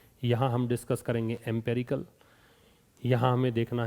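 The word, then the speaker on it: empirical: एम्पेरिकल पहली चीज, तो एक बार देखिए, यहाँ आपका पहला शब्द है एम्पिरिकल, इसका प्रोनाउंसिएशन होता है एम्पिरिकल।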